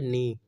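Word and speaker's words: knee: उसको कहते हैं हम नी के जो है वह साइलेंट हो जाता है नी और जो हमारा पांव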